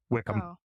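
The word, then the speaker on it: Wycombe: it does not like look at Wickam it's y Wy m b right so Waki no Wickam it would be wi it was gonna be Wickham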